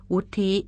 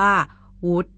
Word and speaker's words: วุฒิ: ซึ่ง เป็น ตัว สะกด ออก อ่าน ว่า วุฒิ หมาย ความ ว่า ภูมิ รู้ ความ เจริญ ความ งอก งาม ความ เป็น ผู้ ใหญ่ คำ นี้ ถ้า เป็น ส่วน ท้าย ของ คำ สมาส ออก เสียง ว่า วุฒิ เช่น ชาติ ติ วุฒิ วัยวุฒิ คุณวุฒิ ถ้า เป็น ส่วน หน้า ของ